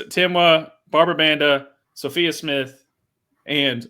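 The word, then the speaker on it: Temwa: But yeah, that's and Barbara Banda and Timwa. Did I pronounce that right again? Okay. You got it. Yeah. It's Timwa, Barbara Banda, Sophia Smith, and obviously I'm saving the best for last, Trinity Rodman.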